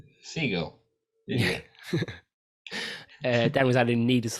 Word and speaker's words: Segel: pronounce that surname, Dan? Sial. What is it? Who are you saying? Seagull.